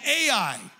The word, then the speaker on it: Ai: The next little town in front of Jericho is called Ai. It's spelled AI, not artificial intelligence, but AI.